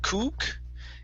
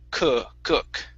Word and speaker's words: cook: uh sounds okay so instead of good kook okay it's good cook good cook good one